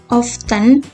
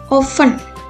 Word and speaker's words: often: frequently asked questions sering nah oven ini kadang-kadang cara pelafalannya often atau oven sample pronouns Deti innoven Mbak many others do not jadi beberapa orang itu mengucapkan often tapi yang lainnya tidak yang yang tidak menggunakan teh itu lebih banyak dari